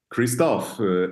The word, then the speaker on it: Christophe: welcome of course okay Kristoff am I pronouncing your your name correctly yeah that's right that's right okay Kristoff so uh